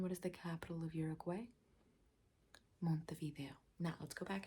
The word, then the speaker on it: Uruguay: the capital of Uruguay let's pronounce that one correctly Uruguay not you're a gay Uruguay yes what is